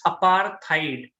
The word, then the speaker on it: apartheid: rights leader who fought against apartheid guys please pronounce the word correctly it's apartheid okay apartheid or it means racial discrimination against